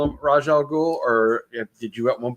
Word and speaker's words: Ra's al Ghul: It's Ra's al Ghul.